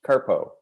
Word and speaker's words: CRTPO: which goes by the acronym crtp which is pronounced carpo welcome everyone to this kickoff meeting for the